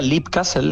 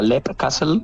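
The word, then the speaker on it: Leap Castle: Fíjate, yo diría Lip Castle en su día, pero como Son Ryan lo pronuncia Lep Castle, yo me quedé con Lep Castle, ¿vale?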